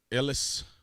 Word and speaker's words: Ellis: Miss Ellis that's how you say her name Ellis had to say president Trump's attorney and former